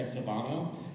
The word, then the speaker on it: Svanoe: by Erika, I can never say it right, Svanoe, thank you, Erika Svanoe.